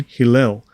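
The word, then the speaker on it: Helel: Pronunciation, Hillel.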